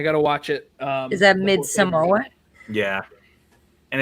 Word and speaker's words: Midsommar: Midsummer was one that Pronounce it right. Like, It's fuck this shit. Midsommar.